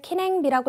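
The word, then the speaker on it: 記念日: 그 다음에 자, 개콩, 자, 기념일을 키냉비라고 읽죠.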